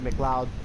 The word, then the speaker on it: McLeod: I learned it's BJ McLeod now. It's not BJ McLeod, it's BJ McLeod. So, I've been pronouncing that wrong.